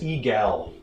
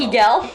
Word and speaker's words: Egal: It's Egal. Egal. Eagle? Egal. How do you spell it? Hold Egal. on. It's like eagle, but different.